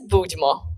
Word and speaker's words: Budmo: So pronounce it for us so that everybody can hear this. ANNA VOLOSHYNA: The name is "Budmo!"